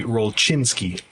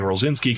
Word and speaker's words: Rolczynski: Um, so my last name, as you mentioned, is Rosinski, which is Polish is silent. The C. Yeah. In Polish it would be Rochinski.